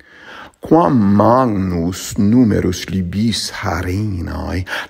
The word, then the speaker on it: magnus: It's not magnus, it's maNGnus.